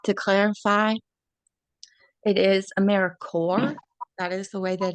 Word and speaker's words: AmeriCorps: so first we like to clarify it is aeric cor that is the way that it is pronounced sort of like peace core job core um Amer Corp not AER corpse and our next member meeting on September 16th